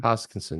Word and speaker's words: Hoskinson: Is that how you pronounce his last name? Hoskinson, yeah, Hoskinson.